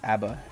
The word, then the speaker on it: ABBA: Like a whole dancing crowd from what I was singing, ABBA, pronounced ABBA, is a Swedish band.